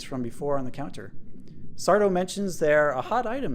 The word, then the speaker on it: Sardo: a moment sooner does sardo no Mista Accent on the doe appear out of two